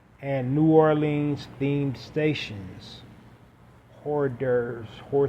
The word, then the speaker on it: hors d'oeuvres: Hors d'oeuvres, horse divers. It's hors d'oeuvres, but it just looks weird.